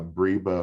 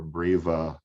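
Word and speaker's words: breba: only ripen the uh briba or breva crop there's different pronunciations there and we'll talk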